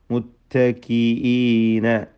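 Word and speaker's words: متكئين: മുത്തക്കീന, ഹംസ വ്യക്തമാക്കി ഉച്ചരിക്കണം. മുത്തക്കീന എന്ന് അവ്യക്തമാവരുത്. അല റോഫിൻ, റോ രണ്ട് പ്രാവശ്യം തഫ്ഖീം ചെയ്തുകൊണ്ട് ഉച്ചരിക്കുക, രണ്ട് പ്രാവശ്യം വന്നു.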